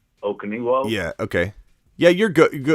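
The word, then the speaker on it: Okonkwo: Let me try to pronounce his last name. Okaniwo.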